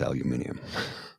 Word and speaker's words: aluminium: That's the proper pronunciation. Uh along with aluminium. It's not aluminum. It's aluminium.